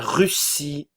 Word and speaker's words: Russie: britannique britannique britannique britannique la Russie attention le U français la Russie la Russie russe russe